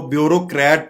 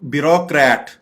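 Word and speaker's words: bureaucrat: आगे जो लफ्ज आप देख रहे हैं ये ब्यूरोक्रेट, इसको ब्यूरोक्रेट पढ़ा जाता है, ये जो कि गलत है। इसकी करेक्ट प्रोनाउंसिएशन है ब्यूरोक्रेट।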